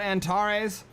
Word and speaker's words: Antares: On the left-hand side, we've got Antares, I believe. Or you could say Antares, I guess. Or Antares. Depends on where you put the emphasis on the syllable.